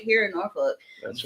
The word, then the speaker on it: Norfolk: Yeah, if you're from here, I want to say like Norfolk because I don't want to say it the way it's phonetically. Well, there's an L in there, but apparently you don't say that.